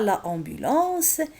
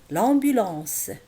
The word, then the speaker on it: l'ambulance: Alors, on ne dit pas la ambulance, mais l'ambulance.